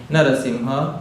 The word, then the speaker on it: Narasimha: Better let us learn the proper pronunciations of the names of Bhagwan. Narasimha and Nimha.